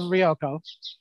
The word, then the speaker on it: Ryoko: Because how, if you're going to voice somebody who's an otherworldly 5,000-year-old scientific genius who is the mother of Ryoko.